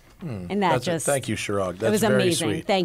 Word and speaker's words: Chirag: I think that's pronounced Craig. Craig, you think? I mean, it's C-H... I-R-A-G. Chirag.